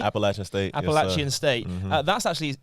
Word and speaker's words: Appalachian State: You went to, how do you pronounce it? Appalachian State? Appalachian State.